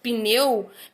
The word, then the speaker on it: pneu: Mas se é uma palavra que tem uma letrinha muda, né, no início, como esses do exemplo, pneu, pneu é uma palavra de uma única sílaba.